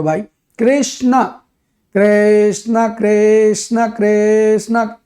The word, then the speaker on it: कृष्ण: हाँ कहीं रामा, जबकि what is the real pronunciation, it इज राम कृष्ण।